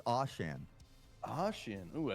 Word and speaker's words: Ocean: Ocean. What I he thought said. I thought it was Ocean, but I was corrected. I believe it's Oshan.